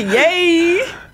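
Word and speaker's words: Yeh: a y right yeah yeah C yay C yay yeah it's y e h sorry it's pronounced as yay uncore ye h on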